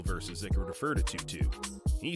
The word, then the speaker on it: 22Gz: from the name of tutu's first mixtape he then continues with two two gone free shots i ain't even have to aim tutu is how to gzz's name is pronounced this name combines many